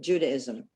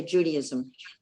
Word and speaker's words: Judaism: about women in um judaism and by the way i get really upset when people say judaism it's not the cult of judy it's judaism the way it's spelled like judaic judaism without judaism everyone says that and